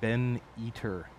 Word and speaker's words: Ben Eater: up his channels name's Ben eater like eater like like like he's a guy who eats things I don't know nothing fun of him that's just what his name is spelled like then he ben b